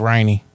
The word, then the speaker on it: Renny: uh by Renny right it's pronounced rainy oh it's night night